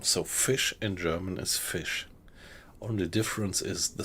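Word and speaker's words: Fisch: So fish in German is fish. Only difference is the spelling. So in German it would be f i s c h, but it's pronounced exactly the same.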